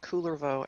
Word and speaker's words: Kullervo: done, and it's also It's pronounced cool. It's pronounced Coolervo, actually. I think. that's way cooler. So Oh. But It's Finnish. It's a Finnish story.